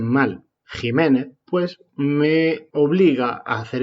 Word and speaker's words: Jiménez: la vergüenza y el cruce que estos universitarios pronuncian mal jiménez pues me obliga a hacer esta pequeña defensa